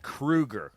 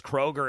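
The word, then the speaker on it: Kroeger: to we got to remember it's Chad Krueger we've been saying his name wrong for years and he yeah he had just he just did an interview and he said everybody had just thought it was Kroger and so he just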